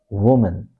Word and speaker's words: woman: Next time say woman. Woman. So stress is on the first syllable.